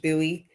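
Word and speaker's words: Bowie: Sunday where it is you're It's in Buoie, Maryland. B O W I E. It's pronounced Buoie.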